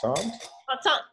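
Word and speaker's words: Montsant: to mon how do you say that monant monant yes you go back to monant when you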